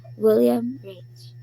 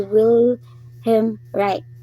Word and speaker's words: Wilhelm Reich: So mao na ang kang William Rich. Pronunciation sa pangalan ni Atak. So si kuan dito si Wilhelm Reich.